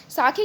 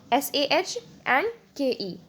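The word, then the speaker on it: sake: और इसको प्रोनाउंस कैसे किया जाता है, इसको सेक नहीं बोलेंगे हम, ठीक है। जैसे आप सेक इसको बोलते हो, लेकिन जब इसको हम लोग क्या बोलेंगे, कुछ इस तरीके से, SAHNKE, ठीक है, साके, राइट।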